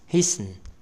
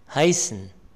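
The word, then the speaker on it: heißen: هيسن، هايسن، هايسن، النطق ديال الحقيقي هايسن، هايسن.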